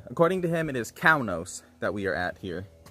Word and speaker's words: Kaunos: pronunciation was and he told us uh to pronounce it cao nos so i believe i was pronouncing it cainos or something earlier but uh according to him it is kaunos that we are at here so look let's